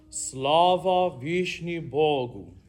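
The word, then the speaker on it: Слава Вышних Богу: So I heard Slava. Slava. You have to, if we're going to say it correctly, if we're going to sing it correctly, we have to say it correctly. So I'll say it correctly and then you say it correctly. Slava Vishni Bogu.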